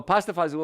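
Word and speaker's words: pasta e fagioli: So pasta fazool or pasti fagioli, if you want to pronounce it like it's spelled, that's a great way to do it.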